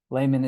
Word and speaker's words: Lahman: Lahman, is that correct pronunciation of your last name?